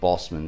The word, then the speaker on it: Boseman: the tragic passing of Chadwick Boseman, or Boseman, is how you say it.